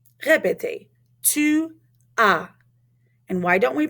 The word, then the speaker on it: tu as: Tu as. Répétez. Tu as. And why don't we pronounce that S? Because we don't usually pronounce S at the end of a word in French.